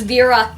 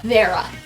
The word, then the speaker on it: Vera: the video I said hello my name is Vera not Vera or Vera or Veronica their birth coos because